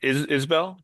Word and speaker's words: Isbell: The epigraph is from, sorry, how do you pronounce it? Isbell?